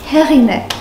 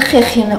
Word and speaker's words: Эгине: Херине. Меня зовут Херине, а не Хехине.